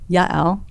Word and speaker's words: Yael: First name Yael. How did I do with that pronunciation?